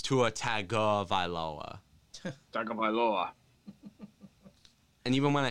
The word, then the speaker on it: Tua Tagovailoa: It's not pronounced Tua Tagovailoa. It's Tua Tagovailoa.